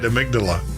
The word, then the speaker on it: amygdala: Amygdala.